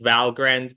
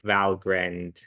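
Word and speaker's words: Valgrind: Uh, it's pronounced Valgrren because it's named after I keep forgetting.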